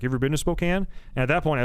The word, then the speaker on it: Spokane: Like Spokane, just so you know, it's pronounced Spokane.